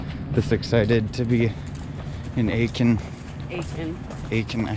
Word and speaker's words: Aitkin: Hey, how is it pronounced? Aitkin.